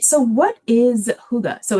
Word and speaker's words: hygge: So, what is Huga? So, it is pronounced huga or huga.